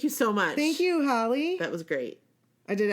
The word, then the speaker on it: Halley: so much Thank You Holly that was great I did ask her I was like how do you pronounce your name Holly or Hailey and she said like Halle Berry Halle perfect so we got